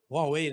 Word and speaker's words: Huawei: Huawei, né, que se pronuncia?